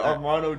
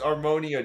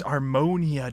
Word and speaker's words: Armonia: Yeah, Armano Justin. No, it's Armonia Justin. It's Armonia Justin.